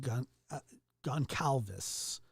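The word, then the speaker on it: Goncalves: mad at me oh yeah yeah it's uh Gone Calvis gone Calvis I think I don't know Khan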